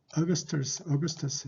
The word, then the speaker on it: Augustus: 자, 황제 아구스토인데 황제를 카이사라고 하는데 이제 Caesar, 영어 발음은 Caesar죠. Caesar. 그다음에 Augustus.